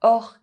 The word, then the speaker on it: orchestre: bouche mouth chien dog However, in some words, CH is pronounced [k]: technique technical orchestre orchestra In the alphabet, D is